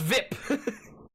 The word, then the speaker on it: VIP: the acronym oh what's viip he pronounces the acronym as a word rhyming with zip thep you say ik